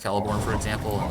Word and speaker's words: Celeborn: I know some of the pronunciation, like Celeborn is pronounced Celeborn, for example, and like Arphidine.